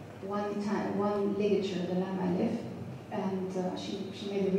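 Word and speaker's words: لا: this one um One Time One ligature the L and uh she she made the research and collected existing lamb eles as as vared as possible and then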